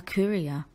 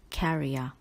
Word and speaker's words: courier: my friend in Japan do not pronounce this word as carrier word number two he